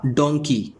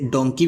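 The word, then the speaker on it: donkey: इसे डोंकी भी बोलते हैं, इसे डंकी भी बोलते हैं, तो इस वीडियो में हम इसे डंकी ही बोलेंगे। ब्रिटिश प्रोनाउंसिएशन में इसे डंकी कहते हैं और अमेरिकन प्रोनाउंसिएशन में इसे डोंकी कहते हैं।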